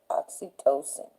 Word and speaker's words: oxytocin: medlineplus.gov says that oxygen oxytocin that's how you pronounce it oxytocin should not be used to induce labor to